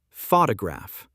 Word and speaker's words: photograph: Photograph. Stress on first syllable.